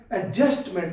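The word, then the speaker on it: adjustment: यह एडजस्टमेंट ना होगा एडजस्टमेंट होता है क्योंकि फिर मैं बता रहा हूं दी साइलेंट होगा और स को हम क्या बोलेंगे जे तो क्या हुआ एडजस्टमेंट नो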